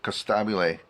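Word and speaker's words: Costabile: and the guy who played this character David Costab is how you say his name he I've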